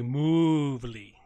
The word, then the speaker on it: Movely: All right, so I mispronounced Movely. It should be Movely. Put the moo in there. We'll give it the cow moo.